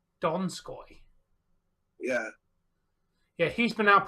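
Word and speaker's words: Donskoi: you've missed it's time it's pronounced dog sky donskoy yeah yeah he's been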